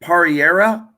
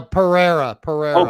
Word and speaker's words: Pereira: Is it Pereira? No, Pereira. Oh, Pereira.